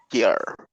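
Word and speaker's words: جرّ: ada ya dia harfu jar harful jar jar ya bacanya Jar rnya tasid jimnya fathah harful Jar kalau ke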